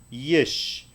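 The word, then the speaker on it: יש: Esta palabra por lo tanto va a sonar yesh. Como decir sí en inglés, pero es yesh.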